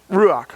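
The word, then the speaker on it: רוּחַ: uh and i don't i i probably couldn't pronounce it ruach okay i was gonna say that but i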